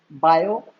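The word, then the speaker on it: Biot: आपके दो साइंटिस्ट थे, बायो सावर्ट्स। तो मैं आपको एक चीज बता दूं, आपको बुक्स में इसकी डेफिनेशन क्या मिलेगी, बायोट सावर्ट्स, जिसमें टी क्या है, साइलेंट।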